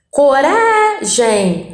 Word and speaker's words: coragem: Coragem, coragem. Rá é a sílaba tônica.